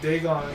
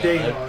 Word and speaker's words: Dagon: See, so like Dagon. Now, my personal favorite. Is it Dagon or Dagon? Dagon. Is It's it actually Dagon. Okay. I've always pronounced it as Dagon, I don't know why.